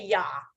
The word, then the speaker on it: Yah: And we could say Yah, the first part, like hallelujah.